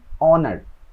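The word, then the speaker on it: honour: অ্যান অনার, মানে হচ্ছে সম্মান, একটা সম্মান, ধরেন কাউকে কোনো একটা জিনিস সম্মান দিতে হচ্ছে, এটা হচ্ছে একটা সম্মান, তো এরকম। তো এখানেও কিন্তু কি হয় নাই, এইচ উচ্চারণ হয় না, এই জন্য অ্যান ব্যবহার হয়।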